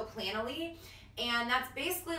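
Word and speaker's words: Planoly: to talk about is I think it's pronounced plan only yeah right PLA n o ly so plan'll e and that's basically like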